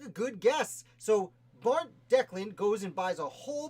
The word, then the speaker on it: Declan: I believe it's pronounced Declan, though I saw at least 8 different spellings.